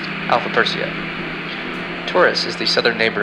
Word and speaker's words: Alpha Persei: Ares' brightest star is pronounced Hamil, and Perseus' brightest star is pronounced Alpha Persei.